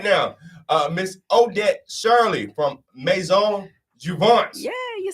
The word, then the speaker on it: Maison Jouvence: Joining me right now, Miss Odette Shirley from Maison Jouvence.